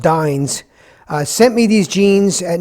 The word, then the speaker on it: Dyns: The company Dyns is pronounced Dyns.